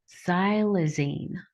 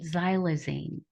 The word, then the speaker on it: xylazine: It's called xylazine. I believe that's how you pronounce it, xylazine, but it's spelled with an X.